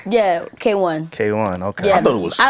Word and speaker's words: KWN: Yeah, K1.